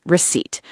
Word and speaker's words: receipt: And word six, receipt, r e c e i p t. The small paper that shows what you bought. The p is silent.